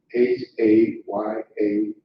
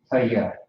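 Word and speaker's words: היה: H-A-Y-A-H. That is correct. How would you pronounce that? Ha. Ha. Ha. Yeah. Haya. Yep, Haya is how you pronounce it.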